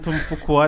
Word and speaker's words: Fuqua: Yeah, but he's worked on loads of films with Robert Richardson, and the director Antoine Fuqua, that's how you say it.